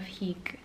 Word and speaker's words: hygge: So we have at the bottom the little book of hygge. I always say it wrong. Hygge. It's literally here on the cover, pronounced hygge, by Mig Viking, who is a Danish author.